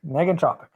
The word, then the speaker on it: negentropic: I've heard It's negative is the hard G. Okay, negentropic.